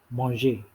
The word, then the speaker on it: manger: about the verb eats which is monge in french that's pronounced as monge okay now let's uh